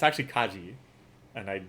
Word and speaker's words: Kaji: Like Kaiji, who I keep pronouncing it Kaiji, but it's actually Kaji, and I spelled it Kaiji.